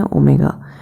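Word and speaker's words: ω: देखो, ये जो W है इसे हम लोग प्रोनाउंस करते हैं ओमेगा।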